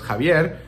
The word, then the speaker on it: Xavier: in some way and x a v i e r is uh a word that can be pronounced as kavier because in Spanish especially in Old Spanish uh the X can sometimes make a j sound right and I think